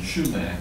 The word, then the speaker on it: sumac: y yes um the poison sumac yeah I think is pronounced poison schumac oh goodness that's okay